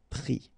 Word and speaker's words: pris: All right, and then ES now, final S not pronounced, but still you need to write it. Mettre, for instance, EWTRE, will become mi, ES. Prendre, ENDRE, will become pris.